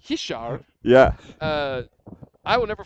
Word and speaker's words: Richard: You know, uh, Richard uh, Fras, it's Hishar.